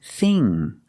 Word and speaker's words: thing: We see ing, so we make the long E sound like green beans. E, it's more closed. Thing. And the ng makes a sound with the tongue in the back. Together, thing.